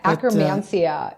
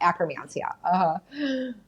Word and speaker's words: Akkermansia: I will find it difficult to pronounce it. Yeah, akromansia.